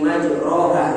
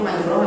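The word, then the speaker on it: مَجْرٰىهَا: Wa qala irkabu fiha bismillahi majraha. Bisa tulisannya. Wa qala irkabu fiha bismillahi majraha wa mursaha. Harusnya majraha bacanya tulisannya, tapi bacanya majrah.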